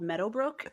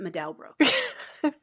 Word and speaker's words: Meadowbrook: There's a street near me called Meadowbrook, and my GPS calls it Medowbrook. The emphasis is on the wrong syllable, as you said earlier.